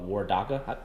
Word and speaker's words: Waredaca: head brewer and one of the founders of war daca that pronounced that right yes you did or daca